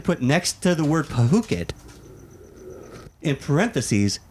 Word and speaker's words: Phuket: word Phuket, in parentheses, it's pronounced Phuket. Are you serious? Yeah, because it's spelled Phuucket. Well, that's how we spell it. That's how they spell it in English. Right. And it sounds an awful lot like F it, Oh.